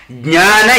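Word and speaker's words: Jnana: India bhakti yoga and Gyana yoga it is not Gyana yoga you have to pronounce Jana Yoga it's a your nation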